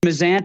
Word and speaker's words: Mazzant: It's Mazzant. It's the Americanized version.